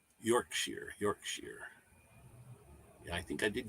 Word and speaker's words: Yorkshire: It's pronounced Yorkshire. Yorkshire.